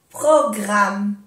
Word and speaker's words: programme: Nouveau programme. Nouveau programme. Dos M's solamente se pronuncia una.